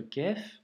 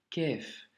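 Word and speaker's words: ك: Donc, quand tu vois ce symbole, c'est la lettre kef, tu vois, c'est un son aminci, léger, kef.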